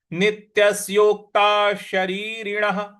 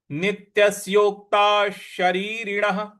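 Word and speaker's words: नित्यस्योक्ताः शरीरिणः: तो नित्यस योक्तास योता ता के बाद जो विसर्ग है उसका उच्चारण हमें श ले आना है क्योंकि उसके आगे श लिखा हुआ है। शरीरण का श लिखा हुआ है। तो पूरा पद आपका बन रहा है। नित्यसोक्ता शरीरण नित्यसोक्ता शरीरण पूरी पंक्ति क्या बन रही है?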